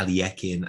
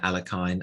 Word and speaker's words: Alekhine: first comment on pronunciation i've heard this name pronounced in about 10 million different ways uh aliyekin alekhine alakin alakine whatever i'm just going to call him alakin because whatever let's keep it simple um and you know